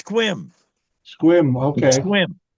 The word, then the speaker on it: Sequim: Pronounce it right. Squim.